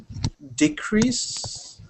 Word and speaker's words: decrease: is about uh stresses we stress nouns differently from verbs especially in these verbs and nouns that are exactly the same word so read this word